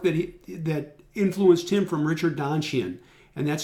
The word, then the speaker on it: Donchian: and the work that influenced him from Richard Donchian, and that's spelled D-O-N-C-H-I-A-N, Donchian, if anybody's interested.